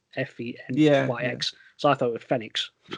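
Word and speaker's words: Fenyx: they showed off immortals phoenix rising although phoenix is spelled f-e-n-y-x so i thought with fenix fenix rising fed eggs so is this the game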